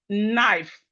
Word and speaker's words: knife: We have knife. The K in knife is silent.